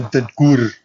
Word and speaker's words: Bentancur: I'm not gonna lie, this team's crying out for Rodrigo Bentancur. Bentancur. You said his name wrong. Bentancur.